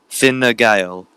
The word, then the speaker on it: Fine Gael: I have been sent a link in my direct messages here of how to pronounce Fine Gael. Fine Gael.